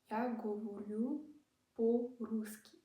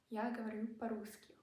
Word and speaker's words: я говорю по-русски: Russian has something called stress, and O is only pronounced O when the stress hits the O. So this would be pronounced as я говорю по-русски. See, all A, the O turned to A's.